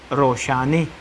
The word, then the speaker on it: روشانہ: فاطمے۔ ایک نام ہے ایران میں مقبول نام ہے روشانہ، شہزادی کا نام ہے، تو اس کو لکھتے تو اس طرح ہے، تلفظ میں یہ بن جاتا ہے روشانے۔ اس وجہ سے ہمارے